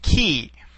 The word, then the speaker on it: chi: We just finished the letter phi, and now we will move on to the letter chi, or sometimes pronounced ki.